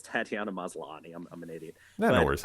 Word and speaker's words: Tatiana Maslany: So and I loved when even and I had her name wrong. Sorry, it's Tatiana Maslany.